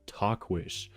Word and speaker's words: Tahquitz: So it's spelled Tahquitz. That's not how you say Talkwish, but that's how you pronounce it.